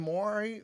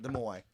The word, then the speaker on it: Moai: But they were making the Moai, or whatever those statues are called. If I pronounce that wrong, please forgive me, guys. But what happened is The Moai. the Moai.